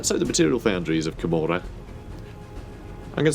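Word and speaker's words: Commorragh: say kamora I know a lot of people say KAG and stuff like that I say kamora because I think it's supposed to be more like Sodom and gomorra I think it's like the pronunciation they're going for but that could be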